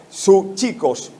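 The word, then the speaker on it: ψυχικός: Aquí la palabra griega para hombre natural es como pronunciar su chicos con P delante. Es como escribir psicología. Recuerden que psicología por lo general lleva una P delante, ¿sí o sí?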